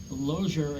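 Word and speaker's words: Lozier: Loer. It's a spell that now.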